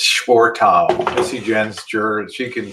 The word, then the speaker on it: Schwartau: It's Schwartau. Missy Jenn's juror, she can pronounce it.